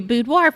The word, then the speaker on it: boudoir: people just to say budoir budoir I just like a bu and a d but technically it is a French word it's the French word for bedroom and so the technical pronunciation is budo but you will get